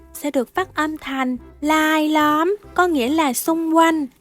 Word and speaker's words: รายล้อม: Chữ này đọc đúng chính tả là rai lõm, nhưng trong văn nói âm R sẽ được phát âm là âm L. Rai lõm sẽ được phát âm thành lai lõm, có nghĩa là xung quanh, vây quanh.